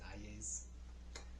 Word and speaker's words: Hayes: But the state was called Presidente Hayes, or they pronounce it Ayes.